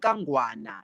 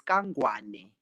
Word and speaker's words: Kangwane: It's not Kangwana, it's Kangwane.